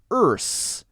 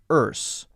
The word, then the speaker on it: Earth's: mistake it should be earth earth now British pronoun pronunciation you could say is a little bit more relaxed with something like Earth's but it's still still there there's still a simple R sound Americans will say ah-ah-ah